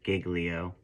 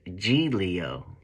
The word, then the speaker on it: Giglio: right and she called me a clown for pronouncing it Giglio but apparently it's supposed to be pronounced G Leo right but uh I mean you know what